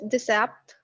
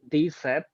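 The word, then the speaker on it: dix-sept: 17, 17 is decept. decept.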